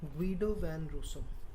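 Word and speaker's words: Guido van Rossum: author of python language even till date they pronounce this name as guido van russo you know you know this is he is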